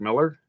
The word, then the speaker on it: Millar: pronounced mark millar's mark miller apparently yeah it's just spelled differently this miller okay and